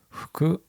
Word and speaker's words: 服: 服、名古屋だとですね、服って言うんですよ。アクセントがちょっと違いますよね。服が標準語ですよね。